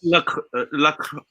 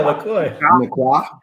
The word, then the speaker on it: LaCroix: Jordan, how do you pronounce that brand? I think it's LaCroix. Real French would probably. There you go, LaCroix.